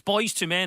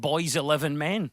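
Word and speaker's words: Boyz II Men: Also, I do remember, because it's Boys to Men, and it's spelt with almost like Roman numerals. Yeah, the newsreader. Yeah, the newsreader read out wrong and said, boys 11 men.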